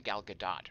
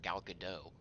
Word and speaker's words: Gal Gadot: Taco Bell invention mm-hmm you guys know to pronounce the T in gal gadot right don't go running around depriving her of her Israeli heritage pretend she's French callin her gal gadot Christie Gaines uh gal